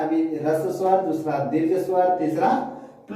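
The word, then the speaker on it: ह्रस्व: पहला रस स्वर, इसको बहुत आदमी हरस स्वर बोल देते हैं, तो वैसा नहीं बोलिएगा। इसका शुद्ध उच्चारण जो होता है रस स्वर, दीर्घ स्वर, प्लुस स्वर।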